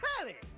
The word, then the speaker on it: Telly: My name's Telly. Rhymes with Nelly. Like, whoa, Nelly.